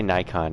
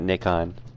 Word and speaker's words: Nikon: Yeah, I say Nikon, not Nikon. Nikon is like the British pronunciation. And Australian. I think it's American to say Nikon, because I think even Canadians say Nikon.